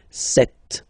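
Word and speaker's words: sept: Then here remember b is not pronounced. Okay. It doesn't exist. So you got this set sound. Set. Set. Okay. And here final t is pronounced.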